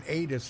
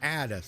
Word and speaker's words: Addis: and they said man he keeps mispronouncing it and saying aydus it's addis so my apologies folks